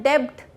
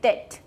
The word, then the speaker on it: debt: DEBT को डेब्ट नहीं कहते, उसे हम कहते हैं डेट.